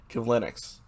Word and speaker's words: Kivlenieks: Kivlenieks. That's how you pronounce it.